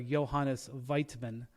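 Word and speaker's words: Johannes Voigtmann: they have a seven-footer Johannes weitman I think is how you say it um is their starting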